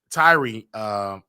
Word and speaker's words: Tyre: Okay, Tyree Nichols, okay, or Tyrone Nichols. I want to make sure I say his name right, you guys. He is Tyree.